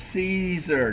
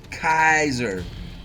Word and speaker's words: Caesar: Okay, it's pronounced Caesar, not Kaiser.